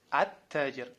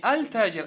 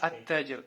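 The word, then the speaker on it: التاجر: А когда к ним добавляется аль, удваивается первая буква, а сам артикль не читается. Например, таджир, ат-таджир. Саубун, ас-саубу. То есть с алиф-лям будет ас-сауб. Не аль-сауб, а ас-сауб. Не аль-таджир, а ат-таджир.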